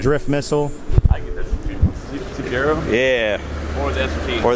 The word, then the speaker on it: Cefiro: I get the Cefiro.